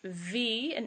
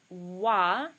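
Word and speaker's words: व: The sound is in between V, an English V, and an English W. So it's not va and it's not wa.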